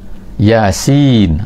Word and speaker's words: Yasin: muqattaah jadi orang Arab Biasanya kalau Yasin mereka akan baca Yas macam tu A mereka takkan baca Yasin tiba-tiba pelik ni Muhammad ni membawa satu benda yang mana cara baca dia pelik Yasin ha macam tu kan Alif Lam